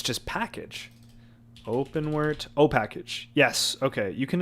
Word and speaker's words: OpenWrt: It is said like WRT like the acronym.